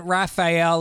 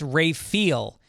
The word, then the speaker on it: Raphael: It isn't Raphael like the painter or turtle, it's pronounced Ray-feel.